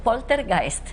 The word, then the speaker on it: poltergeist: Bueno, pronúncialo tú porque... Bueno, verás, poltergeist.